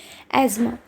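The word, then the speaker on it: asthma: वैसे तो ये अस्थमा होता है बट इसको हम प्रोनाउंस करते हैं। करेक्ट प्रोनाउंसिएशन है इसकी एजमा।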